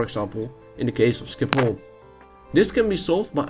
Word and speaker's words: Schiphol: Oh, and by the way, did you know that Schiphol is actually pronounced as Schiphol in Dutch?